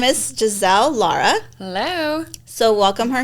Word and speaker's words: Jahzeel: little differently j a h z l it's Jazelle I don't know that's how it's spelled I don't know why my mom called